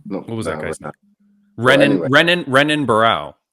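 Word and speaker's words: Renan Barão: B baral no what was that Ren renan renan baral right okay no no is that the UFC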